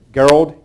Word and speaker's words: Gerald: Well, Gerald is how he pronounced his name with a hard G sound, but he went by Jerry popularly.